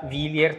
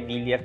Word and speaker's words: Wilier: non suona italiano, e cerchiamo sempre di spiegare che si pronuncia Villiers Triestina. Infatti nel showroom abbiamo realizzato questa scritta per spiegare alle persone come si pronuncia, perché tante persone lo dicono all'inglese, alla francese, il nome vero è Villiers Triestina.